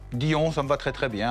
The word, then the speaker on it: Dy'On: Alors, votre société s'appelle Dion, comment on le prononce? Dion, ça me va très très bien.